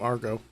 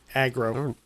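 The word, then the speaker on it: Agro: Why don't we keep calling him Argo? I don't know. Aggro. I guess you could, when at first glance, you could probably mispronounce it.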